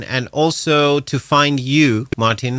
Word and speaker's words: Martijn: you say that um well actually Martin is more than fine it's uh originally it's Martin but yeah but for me I'm in every country it's a different thing in French it's Martin in Italy it's Mark Martino in Germany so for me Martin is like it's the easiest for all the countries you have just instantly